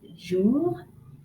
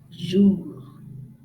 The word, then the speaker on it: jour: The first one is jour, jour.